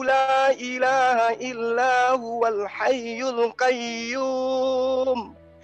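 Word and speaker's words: الْقَيُّومُ: Allahu la ilaha illa huwal hayyul qayyum. Harus tasdid. Huruf ya itu tasdid.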